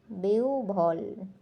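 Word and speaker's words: বিহ্বল: বলে থাকি বিহব বলল বা বিহব এটার সঠিক উচ্চারণ হবে বেউ রসভ বেউভল বেউভল বেউভল এখন আমরা সঠিক উচ্চারণ জানতে পারলাম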